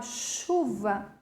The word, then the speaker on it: chuva: Percebam que a palavra chuva também contém um dígrafo, porque o C e o H tem som de X, né? Quando eu vou pronunciar a palavra chuva, é o som do X, né?